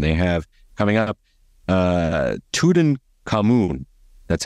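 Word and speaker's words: Tutankhamun: an experience and they have coming up uh tudan cun that's how you say it King Tod uh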